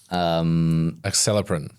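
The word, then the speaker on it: Acelepryn: Acceleprin.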